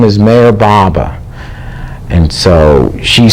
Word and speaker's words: Meher Baba: And I says, it's a book about Mayor Baba. So he said he couldn't pronounce the name. He said, Mayor Ba. And I says, no, Mayor Baba.